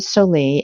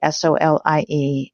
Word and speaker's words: David Solie: So early on, I read a book by a gentleman by the name of David Solie, Solie, and it's called How to Say It to Seniors.